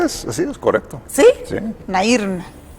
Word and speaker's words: Nairn: Nairn. En Spanish, Nairn. Sí. O Nairn. Ok, en English, Nairn.